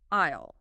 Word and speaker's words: aisle: Isle.